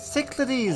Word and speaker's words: Cyclades: Cyclades, that's how you pronounce it.